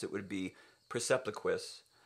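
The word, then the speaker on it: Percepliquis: pronounce it would be Persepliquis, with the Q having a K sound.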